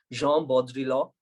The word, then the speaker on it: Jean Baudrillard: And if you have to say his name in French, it is Jean Baudrillard.